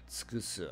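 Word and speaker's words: 尽くす: Alternate ways to pronounce this kanji are jin, to exhaust, use up, run out of, or deplete. Jin or tsukusu is to deplete.To do to exhaustion.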